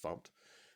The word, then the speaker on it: fmt: So we've got fumped, fmt, often pronounced fumped, and then we can go to, or we use the print line method right there, and we print hello world.